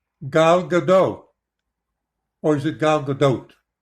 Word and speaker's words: Gadot: Gal Gadot. Oh, they do pronounce the T.